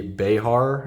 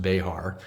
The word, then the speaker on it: Bexar: This is the Behar. It's spelled Bexar, but apparently it is pronounced Behar.